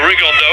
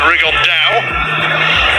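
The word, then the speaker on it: Rigondeaux: three weeks and he's T's talked about fighting rig Ono or as he's correctly pronounced with the uh Spanish accent rig On Da and look two absolute Geniuses but it could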